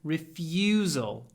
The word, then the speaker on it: refusal: When you say refuse, hold the ya a little bit. Refusal. Refused. Refusal.